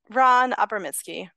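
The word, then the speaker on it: Ran Abramitzky: Well, can you tell me how to pronounce Ron Abramsky's full name? I don't think I said it right. Ron Abramsky.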